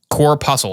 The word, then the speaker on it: corpuscle: this 98b corpuscle corple how how do you say that Google how do we say this one now I'm curious cor pusle core pusle apparently 98 PB core pusle talk to the patient